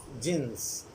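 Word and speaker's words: Djinns: City of Jinns. Here D is silent.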